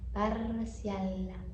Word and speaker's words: parcial: O L tem que ser pronunciado bem lá em cima. L. Parcial.